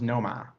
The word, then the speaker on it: Nomar: The correct pronunciation of that, by the way, of course, is Noma. Nomar.